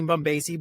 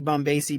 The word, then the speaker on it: Bombacie: if you heard this before, but like Bombacie, banana fana faux facey.